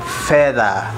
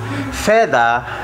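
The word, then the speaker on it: fedha: going also to see there is another word feather feather feather spells f-e-d-h-a which means silver silver and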